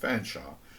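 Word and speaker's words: Featherstonhaugh: say that's Dr fanshaw I say allocating my surname only two syllables since it's pronounced fansa an apparently impenetrable mystery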